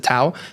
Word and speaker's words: TAO: I hold the most of, is still BitTensor Tau, which is basically like the Bitcoin of AI coins. How do you spell that?